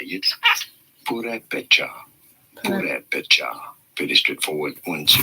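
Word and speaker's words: Purépecha: Purepecha.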